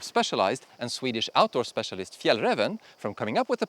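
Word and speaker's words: Fjällräven: that didn't stop specialized and Swedish Outdoor Specialist Fiel Revan from coming up with a pack that does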